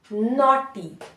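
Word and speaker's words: naughty: का न न आ वैसे न का ना नॉटी नॉटी ठीक है उसके बाद फिर से ए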